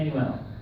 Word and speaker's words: Emanuel: is a plat right how do you say your name emuel Emanuel just as it sound so that's right I